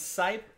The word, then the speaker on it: Sipe: pronounce sipe like pipe there you go nice